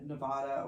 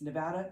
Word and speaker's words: Nevada: had been talking about the state and said Nevada or something along those lines because he's a Texan. And so Guy Rocha corrected the pronunciation. And that led to T-shirts and bumper stickers saying it's Nevada, not Nevada.